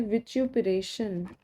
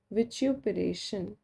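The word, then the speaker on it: vituperation: और एक और होता है विच्युपरेशन। ये थोड़ा अनकॉमन है बट क्या पता आगे एग्जाम में पूछा जाए कभी। विच्युपरेशन या फिर विच्युपरेशन भी कह सकते हैं, दोनों प्रोनाउंसिएशंस कॉमन है।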